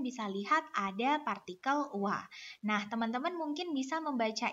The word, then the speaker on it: は: lihat ada PA channel Wah Nah teman-teman mungkin bisa membaca ini adalah h dalam hiragana ya teman-teman namun di sini fungsinya sebagai partikel yang mana cara membacanya adalah wa seperti itu ya teman-teman kemudian